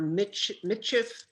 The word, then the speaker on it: Michif: aunt, I think, says to you that you're Michif road allowance people. Yes, What does that mean? And did I pronounce it right?